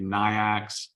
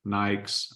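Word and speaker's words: NAICS: of the country and people may pronounce it differently niox Nikes I call it Nikes code that's what I'm talking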